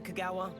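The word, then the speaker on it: Kogawa: Madame Kong, how the hell do you pronounce that? Oh, Mr. Clock, your attention. Clock. Sorry, Madame Kagawa.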